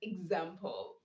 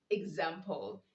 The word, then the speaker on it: example: When EX appears immediately before a stressed syllable, that is with a vowel, the X is pronounced as Z. For example, we have the word example. Example. You don't say example, you say example.